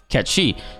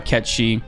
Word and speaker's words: Cait Sith: I'm saying it wrong that it's actually not Kate said it's pronounced Kechi to which I looked up and it is true it is true they actually do say uh catchy in the Gaelic pronunciation of the lore that